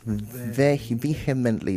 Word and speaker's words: vehemently: Vehemently, not vehemently. The H is silent, so just connect it vehemently.